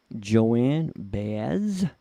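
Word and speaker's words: Joan Baez: And she is performing Diamonds and Rust by Joanne Baez. Am I pronouncing that right?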